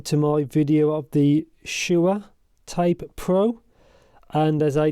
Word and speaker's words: Shuoer: I think it's pronounced Shuoer, not Shure.